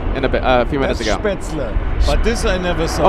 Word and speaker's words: Spätzle: Yeah, le, not la.